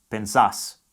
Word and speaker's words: pensás: The stress falls on the final syllable. So the present tense vos conjugation of Pensar. is pensás.